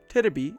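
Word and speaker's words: テレビ: The V sound becomes B too. Terebi is sometimes written as TV, but even then it's usually pronounced as terebi.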